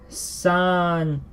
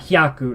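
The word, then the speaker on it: 三百: It is not hyaku. Not anymore. San byaku. San byaku. I know I'm losing a lot of space here because of my giant 300 here, but san byaku. Byaku. It's not hyaku, it's byaku.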